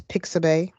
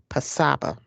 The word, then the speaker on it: Pixabay: that we're going and i have seen and heard two different pronunciations of this um once i heard was pixabay and then it has also been pronounced pasaba so what i am